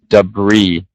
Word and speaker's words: debris: too it's actually tricky we don't want to actually pronounce the S so it's just debris yeah that one's a